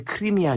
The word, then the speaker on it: 크림: 그것이 1853년부터 55년까지 벌어진 소위 그 크림 전쟁이라고 들어보셨죠? 네. 우리나라는 옛날에 크리미아 전쟁이라고 그랬는데 크리미아. 원래는 크림이 정확한 말이 크리미아는 영국식 발음이고. 네.